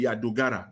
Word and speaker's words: Dogara: Dogara, when pronounce his name, Dogara, he's the chairman of one of the committees there.